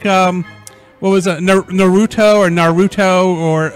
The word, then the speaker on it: Naruto: If you want to say Naruto, that is fully acceptable. Naruto is the most commonly known one.